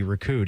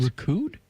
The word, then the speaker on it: recouped: Why didn't I pronounce the P? I don't know. Sometimes you Sometimes you do, sometimes you don't. The times you don't, you're wrong.